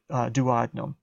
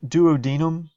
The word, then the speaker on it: duodenum: first portion of the small intestine called the duodenum now some books Abdul Deen duodenum or duodenum I don't mind mine if you pronounce it either way there is a sphincter